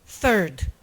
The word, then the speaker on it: third: no PowerPoint eu mostrava que Third eh começa com um som que não existe em português é o som grego feta The Third se a gente pronuncia como se fosse um t Third a gente tá dizendo um palavrão em inglês então eu tinha um